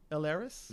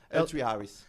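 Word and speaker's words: L3Harris: Laris? Am I pronouncing it right? Yeah. L3 Harris.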